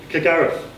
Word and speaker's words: Kilgariff: Try and say the F sound. Kilgariff.